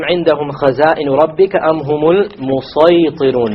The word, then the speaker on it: الْمُصَيْطِرُونَ: Notice the sad has a small sin, but this time it is beneath it. So this is to show you, you can use a sin here, but a sad is preferred. It is better to pronounce it as a sad.